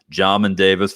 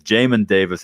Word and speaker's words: Jamin Davis: people in the draft by the name of jamin davis which i did need some clarification on how that was pronounced i've been saying john and davis for the longest time i had bob marley